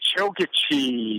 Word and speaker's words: Chokachi: you bet dude and you got it right chokachi not many people do that hey I have to pronunciate a ton I interview probably I Pro